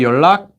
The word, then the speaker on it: 연락: 왜 연락 is how you spell it, but 연락 is how you say it.